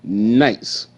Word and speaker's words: knights: silent but guess what K is silent too k makes no sound GH makes no sound and over there you got two knights riding horses two knights riding